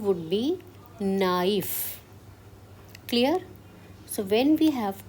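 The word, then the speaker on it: naïf: So the sound of A is A and sound of I is E. So we have to pronounce both the vowels separately. So the sound would be knife.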